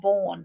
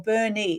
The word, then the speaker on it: Bernie: And Jane says, it's Bernie, not Born. Okay, there you go. Or Bernie.